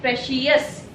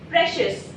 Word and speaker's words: precious: It is not pronounced as precious. It's precious. So precious. IOU is giving one a sound.